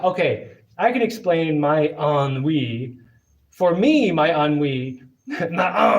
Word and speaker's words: ennui: Ennui, pronounced ennui.